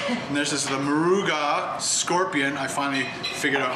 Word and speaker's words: Moruga: uh Carolina Reaper and there's this is the maruga Scorpion I finally figured out how to say